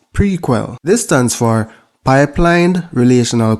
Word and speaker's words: PRQL: the first one is prql pronounced prequel this stands for pipelined